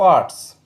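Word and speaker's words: hour: ऐसे शब्द जो एच से प्रारंभ होते हो लेकिन उसमें एच साइलेंट हो उनके आगे एन का प्रयोग होगा।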